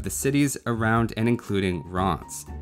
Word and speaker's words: Reims: cities around and including Reims. Yes, it's not pronounced anywhere close to what you'd expect, but I'll try the French pronunciation so I don't get reamed out in the comments.